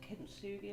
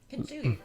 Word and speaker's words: kintsugi: Well, maybe it's a bit like, I can never remember exactly how to pronounce it. Like kintsugi or something. I know what you mean. Yeah, kintsugi.